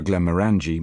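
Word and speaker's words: Glenmorangie: I ask for Glenarangi malt whiskey stressing the third syllable of the name even though I happen to know the headman there stresses the second because a rational being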